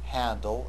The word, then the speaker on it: Hadnel: is an English name his last name or surname is German although it is given an English pronunciation make sure you call him handle and not anything else and notice that